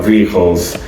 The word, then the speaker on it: vehicle: vehicles. 아시겠죠? vehicle 아니에요. 그리고 V 발음 똑바로 vehicle 아래 입술 깨무시고 vehicles.